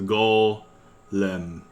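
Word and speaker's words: 골렘: Here's an example where so even though this second syllable starts with the R letter, you don't say it because the ending of the last syllable is an L. So it's like a run on L. So you just treat this entire sound as a an L. So it's golm golem.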